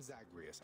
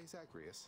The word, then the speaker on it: Zagreus: say murderser didn't you that's progress zagreus I'm zagreus I'm not a murderer can you say zagrius can you say Zachary yes she's getting there